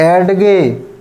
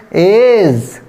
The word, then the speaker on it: edge: अब हम जैसे रॉन्ग पढ़ेंगे तो कैसे पढ़ेंगे, एडगे, तो एडगे तो रॉन्ग हो गया। अब हम राइट पढ़ेंगे तो कैसे पढ़ेंगे, एज।